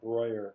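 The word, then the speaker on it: Breuer: own buddy marcel royer b r e u the that is spelled broyer in german he was german he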